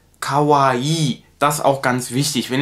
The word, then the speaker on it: kawaii: eben was das angeht wenn ihr zwei hintereinander habt im japanischen dann wird das immer verlängert also kavai das auch ganz wichtig